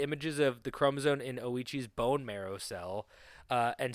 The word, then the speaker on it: Ouchi: Oichi's OI. I thought it Yeah, I thought it was ouchi and I was like, "Ooh, talk about an ouchie." Yeah, but it's a it's oichi.